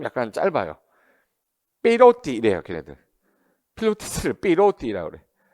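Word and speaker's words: pilotis: 그래서 여기 필로티라는 게 뭐냐면 이게 프랑스 말로 필로티스에서 기둥이란 뜻이거든요. 말뚝같이 생긴 거를 우리 뭐라고 그래? 이걸 필로티스라고 그래요.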